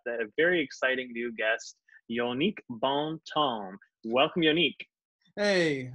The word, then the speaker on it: Jongnic: well you know what my mother was all focused on the French J's so they actual pronounce